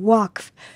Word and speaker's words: Waqf: going on between the Waqf and the Israeli police. Is that how you pronounce it? W-A-Q-F? Waqf. Yeah.